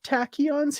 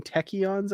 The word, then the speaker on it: tachyons: thrilled super thrilled um weird pronunciation of tachyons he kind of almost sounded like he was saying techyons I noticed um somebody